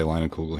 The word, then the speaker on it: Leinenkugel: We all say Leinenkugel here.